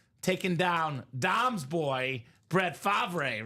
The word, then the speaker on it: Favre: I had the single season sack record taken down Dom's boy, Brett Favre, right? It is Favre.